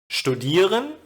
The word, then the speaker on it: studieren: But as always, there are exceptions where the first syllable is not stressed, as in studieren, Bücherei, Information.